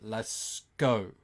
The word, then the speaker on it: Lasco: It is actually Lasco. So you do pronounce the C.